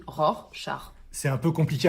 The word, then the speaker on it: Rorschach: petit test de rassard on dit Rorschach c'est un mot compliqué c'est un mot un peu compliqué alors merci de votre indulgence Rorschach on dit ROR char c'est un peu compliqué